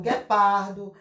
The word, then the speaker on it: guepardo: Então, nas palavras escritas com GUA, o U é pronunciado melhor, né? E com o GU, no caso, I e GE, não é pronunciado como no GUA, tá vendo? Então, guepardo. Se você for escrever uma